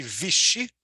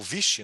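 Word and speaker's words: Vichy: pouco se fala a França de vestir ou viste né as duas pronúncias que é a França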